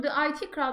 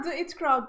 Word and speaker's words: The IT Crowd: Ben The It Crowd diye biliyordum. Ama hani tabii IT kelime oyunu orada var. Ama The It Crowd diye okunuyor diye biliyordum.